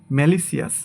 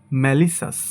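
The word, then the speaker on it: malicious: এটাকে আমরা বলি ম্যালিসিয়াস, বাট সঠিক উচ্চারণ হবে ম্যালিসাস। ম্যালিসাস, ম্যালিসাস। এটাকে আমরা বলি কনসিয়াস, বাট এর সঠিক উচ্চারণ হবে কনসাস।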